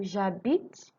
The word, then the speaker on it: j'habite: J'habite, tu habites, ja. So the H is silent. So we are pronouncing J and A.